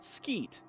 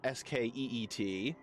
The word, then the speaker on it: Squit: version in the Colosseum, I always pronounced it Skeet. S-Q-U-I-T, because it's a mosquito. And the middle part of mosquito is just skeet, spelled the same way.